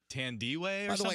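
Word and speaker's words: Thandiwe: it's fantastic but she said that her real pronunciation for her name is tandy waves it would be pronunciation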